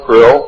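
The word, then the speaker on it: Krlll: name and title was his omnipotent hus Krill pronounced Krill spelled KR l l l or c r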